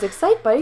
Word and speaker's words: Excitebike: Justin: Excikebike? Jessie: Everyone knows Excitebike! Justin: Nobody knows Excikebike. Jessie: Yes they do! Justin: No. Jessie: You're saying it wrong. Justin: Exci___TE___bike.